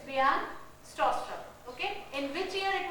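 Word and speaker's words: Bjarne Stroustrup: Actually, B is silent. Bijan Stroustrup. The pronunciation is Bijan Stroustrup.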